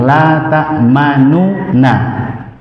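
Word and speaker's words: لا تأمنا: Nah, di situ ada dua cara baca. Ada dua cara baca. Yang pertama dengan ismam. Apa itu ismam? Mengisyaratkan bahwasanya ada huruf yang berharokat dhammah, tapi tidak membunyikan huruf tersebut.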